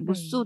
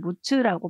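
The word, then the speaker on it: むつ: 그리고 프랑스도 라그 지역에 그 중간 저장 시설이 있고, 일본도 무스라는 곳이 있는데 무스 또는 무츠라고 발음을 하더라고요.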